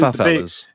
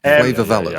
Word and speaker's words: favela: tent, almost like the, what I'm going to mispronounce it here, in South America, favelas. Do you know what I'm referring to? Favelas. Yes, there we go. I knew I would get it wrong. Favelas.